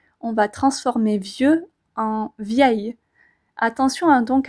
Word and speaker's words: vieil: y a deux I on pourra donc dire un vieil ami vous entendez la liaison passe toute seule un vieil ami on le dit en une seule fois par contre à l'écrit